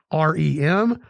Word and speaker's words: reminisce: So most of you may be familiar with the word reminisce, but I was not aware that this is the way it's spelled. R-E-M-I-N-I-S-C-E, reminisce.